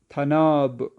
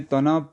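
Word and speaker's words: طناب: توئی نون الف بے۔ ہم اردو میں تناب پڑھیں گے، لیکن فارسی میں صحیح تلفظ کیا ہے؟ تھناب، تھا نون الف بے، تھناب۔ اگلا فوٹو یہاں پہ دیکھیں کس چیز کا ہے؟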